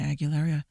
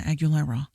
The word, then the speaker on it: Aguilera: like I didn't need to know that Christina Aguilera likes to uh I said her name wrong Christina Aguilera I didn't need to know that she likes